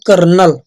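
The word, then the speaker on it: colonel: spelling ठीक है बच्चों एक वर्ड होता है बच्चों कोलोनल जिसको आप बोला करते हो कर्नल ठीक है तो उसकी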